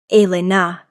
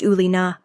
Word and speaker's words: Elena: He pronounced it correctly. Elena, not the Americanized Ulina, with a slight accent.